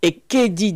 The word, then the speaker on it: Ekedi: Comment on prononce avec l'accent? Ekedi. Ekedi.